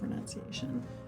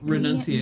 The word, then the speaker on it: renunciation: Like, Renunciation. renunciation, N-U-N. RENUNCIATI. even though you renounce, It's like pronounce. It's renunce.